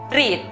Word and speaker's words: read: La pronunciación correcta para la palabra leer es read.